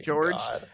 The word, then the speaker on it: Jorge: the name george but it's spelled jorge but they pronounced it george it's a little weird